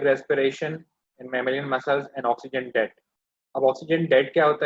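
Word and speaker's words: oxygen debt: Exercise, anaerobic respiration in mammalian muscles and ऑक्सीजन date. अब ऑक्सीजन date क्या होता है? Some students call it ऑक्सीजन डेप्थ। ठीक है, लेकिन इसकी एक्चुअल प्रोनाउंसिएशन है डेट।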